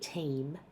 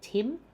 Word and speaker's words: team: existing applications, the IT team. So, check you're getting a long e vow in team. I often hear people say Tim, which sounds like the name Tim.